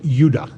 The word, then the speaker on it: Judah: More properly pronounced Judah, because we didn't get the harder sound to the J until about 200 years ago.